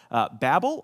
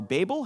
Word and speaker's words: Babel: We're talking today about the story of the Tower of Babel, or Babel, however you prefer to pronounce it.